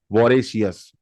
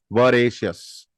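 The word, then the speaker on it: voracious: आई ओ यू एस वोरेसियस normally India में ऐसे पढ़ने में आएगा ये वोरेसियस ब इसका जो सही उच्चारण है वो है वशस वरेश वशस वशस वरेश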